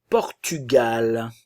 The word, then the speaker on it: Portugal: nasale on le Japon le Portugal attention le U français le Portugal l'Iran nazal en lirant